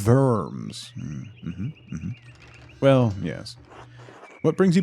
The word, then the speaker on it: Worms: It's pronounced Worms.